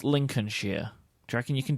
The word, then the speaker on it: Lincolnshire: I want to put an immediate stop to your pronunciation of that. It's Lincolnshire.